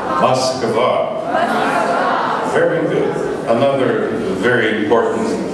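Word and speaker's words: Москва: Moskva. Moskva.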